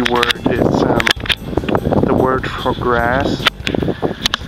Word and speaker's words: Gras: A very easy word is the word for grass. It's Gras. It's almost the same, slightly different in pronunciation, but yeah, grass, grass. It's more like a long R.